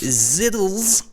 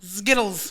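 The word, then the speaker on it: Zkittlez: Look how that's spelled on your screen. Skittles. Ziddles. Skittles. And gelato. Say it with me.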